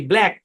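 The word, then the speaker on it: black: এল এ সি কে উচ্চারণ কি ব্ল্যাক ব্ল্যাক শব্দের মধ্যে সি টা সাইলেন্ট ঠিক আছে ব্ল্যাক বা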